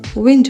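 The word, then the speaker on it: wind: डब्ल्यू आई एन डी विंड हम इसे वाइंड बोलते देते हैं। लेकिन सही उच्चारण विंड होगा।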